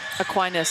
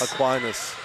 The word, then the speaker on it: Aquinas: Yes, I'm very much enjoying the game that, Arohomai, how do you pronounce the ingoa again? Aquinas. Aquinas.